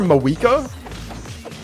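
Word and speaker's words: Mavuika: Did she just call her Mawika? How do you pronounce it? I thought it was pronounced Mawika. Like with a V.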